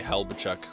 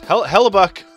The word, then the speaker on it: Hellebuyck: Somebody told me to say Helbachuk, which doesn't even make sense because there's no, there's no Chuck in it. I don't. Anyways, Hellebuyck, I was saying it right the first time, is an 83 already,